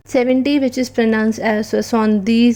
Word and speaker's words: soixante-dix: 70, which is pronounced as Soixante-dix and is written as SOEXRNTA DEX.